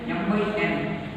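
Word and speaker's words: m × n: Means it is written as m into n, but we pronounce it as m by n.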